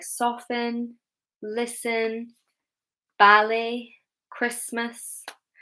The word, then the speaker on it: ballet: But words like soften, listen, ballet, Christmas. Ballet is a French word, okay, so that could be why we pronounce it that way and not ballet, because we are taking it from the French pronunciation.